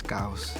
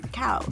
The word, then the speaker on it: caos: The pronunciation in Spanish is CAOS. There we So go. you had it right. CAOS.